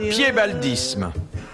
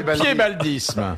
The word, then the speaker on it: piébaldisme: Qu'appelle-t-on le piébaldisme?